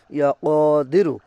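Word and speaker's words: يا قادر: ইয়া কদিরু সঠিকভাবে উচ্চারণ করবেন, ইয়া কদিরু।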